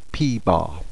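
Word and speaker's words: p̄: the top P with a bar and we pronounce that P bar if you would like to pause the video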